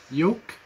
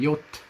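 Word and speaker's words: Jot: Important here is not yok. It just says on yot with a T at the end.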